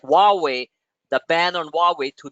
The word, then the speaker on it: Huawei: one of the world's largest tech companies like Huawei the ban on Huawei to be eased and